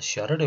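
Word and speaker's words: Charles: 샤를의 법칙이 이제 찰스라고 읽어야 되는데 프랑스 사람이라서 샤를의 법칙이라고 이야기를 하고요.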